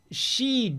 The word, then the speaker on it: Shiva: And for the pronunciation here, I'm basing myself on the Japanese katakana spelling, because, I mean, you can see the English on screen right now. Shi-ve.A and Rud-ro.A.